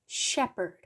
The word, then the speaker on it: shepherd: shepherd, 이거는 양을 모는 목자입니다. 발음이 중요한데요. sh 있죠? shepherd. 보통 ph가 f 소리가 많이 나는데요. 여기서는 f 소리가 안 나고 그냥 p 소리입니다. 강세는 shepherd. 이렇게 읽습니다.